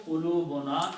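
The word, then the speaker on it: قلوبنا: So when you combine these, you do not pronounce two dhammas but one, and it becomes ulubuna, our hearts. Waqalu qulubuna, and they said, our hearts.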